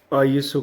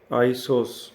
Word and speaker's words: ISO: में बताया था कि आइसो हम इसको प्रोनाउंस करते हैं international organisation for standardisation like आईओएस अगर इसके हम इनिशियल ले तो आईओएस बनता लेकिन हम इसको बोलते हैं आइसो आइसो नॉट आई एसओ क्योंकि कई बार हमने